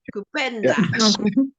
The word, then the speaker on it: kupenda: Kupenda. Oh, this is. I always think of this as your word, Sister Valerie. Kupenda. Yeah. At least you pronounce it well. Yeah, it's kupenda.